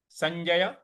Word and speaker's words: संजय: संजय। संजय, देखिए स के बाद जो इया का उच्चारण ले आना है। संजय। संजय स होगा और उसके बाद इया का उच्चारण होगा ज और फिर य।